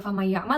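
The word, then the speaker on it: فمن يعمل: membaca famay ya'mal gitu kita bisa eh mencontohkan dengan memegang hidung gitu Apakah ketika kita baca itu sudah berdengung gitu kayakay yamal kalau misalkan hidung kita bergetar berarti ya sudah betul bacanya kemudian lanjut yang kedua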